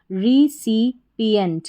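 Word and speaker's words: recipient: चलिए स्पेलिंग को पढ़ते हैं। RE, इसको री पढ़ा जाएगा, ये भी रिपीट होता है, RE री, CIC री सी, PIP और फिर ENT एंट, तो बन गया रिसिपिएंट।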